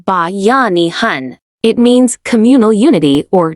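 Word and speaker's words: Bayanihan: The first most essential force is Bayanahan pronounced ba yanihan.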